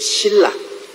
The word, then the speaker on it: 실라: 바울 선생은 실와노, 즉 실라, 히브리어로는 실라고 헬라어로는 실와노라고 발음을 했습니다만 실라입니다.